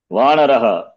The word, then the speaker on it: वानरः: Vanaraha or Vanarah.